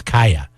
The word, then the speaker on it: Calle: it's kaya it's not Calle it's kaya like kaya Joaquin are you sure it's kaya it's kaya witness kaya wouldn't be que my a no but that's how they spelled that suspense how you spell it I thought it was a high a Spanish it's it's kaya that's kaya the two L's did you take Spanish